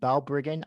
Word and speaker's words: Balbriggan: So, John, I see you grew up in Balbriggan, Ireland. Excuse me for the mispronunciation, No, that's perfect.